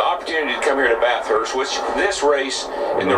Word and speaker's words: Bathurst: There's only one H. It's part of the TH for Bath. It's Bathurst, Bathurst. The H is already used. It's if you were going to pronounce the hard H, it would be Bathurst, not Bathurst.